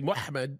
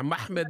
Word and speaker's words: Muhammad: four consonant yeah mhmd how do you pronounce mhmd in English uh uh well you'd say muhmmed and what that's what we would say it's a slightly different in Arabic yeah muhmed muhmed which is a